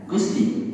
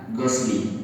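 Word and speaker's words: غسل: muakhar khabar muqadarnya mana lahu gusli gusla atau guslu yang benar adalah gusli dia mudof ilaih mudofnya adalah takhir sedangkan beliau tadi Bacanya apa gasli bedanya gusli dengan gasli kalau gusli itu mandi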